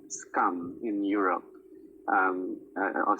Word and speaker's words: SKAM: I don't know if you're aware of this series called Scum in Europe. I'll spell it.